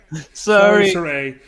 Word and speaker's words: Saray: Saray. Thank you. That's how it is. Sorry. Saray.